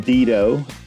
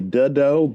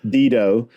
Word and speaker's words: Dedeaux: So, uh I am Dido. Uh correct pronunciation is probably Duddo, but um that's how we say it in Texas and you know a lot of other locally regionally mispronounced names and words.